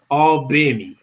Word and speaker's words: Albany: uh albany georgia and let me say it right for all the georgians all benny but um i was